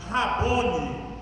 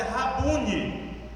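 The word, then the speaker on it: Rabôni: Aqui mestre geralmente é didáscalos, mas Rabone é aramaico. Na verdade eu percebi que ao ouvir a palavra escrita, a palavra pronúncia é Rabune. A pronúncia correta é Rabune.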